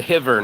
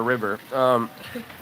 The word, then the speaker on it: Rio: You gotta say it right. It's a hiver, not a river.